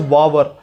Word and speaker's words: Vavar: Malayalam pronunciation is pronounced as Vavar.